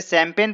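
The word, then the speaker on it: champagne: क्या आप इसे शैंपेन पढ़ेंगे? दोस्तों, इसे कोई भी फर्स्ट टाइम शैंपेन नहीं पढ़ेगा यदि उसको पता ना हो तो। लेकिन दोस्तों, यह स्पेलिंग है शैंपेन की, इसे शैंपेन पढ़ते हैं।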